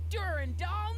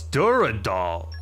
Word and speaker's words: Dural: Wait till you get a load of Duran doll now. Oh, it's Dural. That's how you pronounce that.